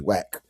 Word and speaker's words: WAC: That's why it's spelled like that because it's the conference. That's not how you spell whack. Like, oh, that's that's what it was pronounced. It was pronounced whack.